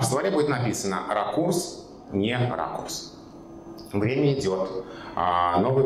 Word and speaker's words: ракурс: Допустим, у нас есть некоторое состояние языка, при котором правильно произносить слово «ракурс», привычное нам с ударением на «у», «ракурс».